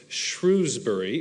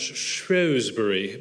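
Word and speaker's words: Shrewsbury: was speaking at uh what I thought was shrewbury but uh it's actually pronounced shury by the British and it's the place of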